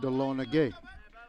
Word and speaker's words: Dahlonega: It's actually pronounced Dahlonega.